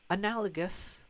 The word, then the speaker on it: analogous: These are not analogous with a hard G.